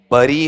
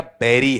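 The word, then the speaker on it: bury: बरी है, ब्यूरी है या बेरी है? बेरी है।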